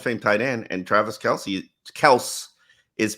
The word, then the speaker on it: Kelce: tight end and Travis Kelce is playing like his name is Travis Kelce. Yes. Says who? Says his father. That's how you say his name.